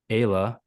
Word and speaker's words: Ayla: You have a 13-year-old daughter named Lizzie, a 4-year-old Justice, and a 3-year-old Ayla, pronounced like Mm-hmm. Kayla, you clarified here.